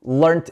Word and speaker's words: learned: Learned English when I was 8. En los Estados Unidos todos dirían learned, L-E-A-R-N-E-D. En inglés británico dirían learned. Entonces, L-E-A-R-N-T. Se describen diferente y se pronuncian diferente.